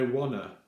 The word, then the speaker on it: wanna: So in everyday American English, they use quite a different way of saying it. So they say, I wanna, okay? And so I thought about the best way of remembering to pronounce that properly. And I think it's very much like I want, then a, Nihongo no a.